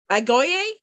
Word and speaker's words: Agoge: All right, so our next presenter is going to be Patrick Clancy on the, pardon my pronunciation, but I believe it's Agoge, from what I looked up, something like that.